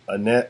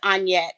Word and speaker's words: Annyett: ticking with the lovely Annette I said your name right on say it wrong no it's on yet where were you on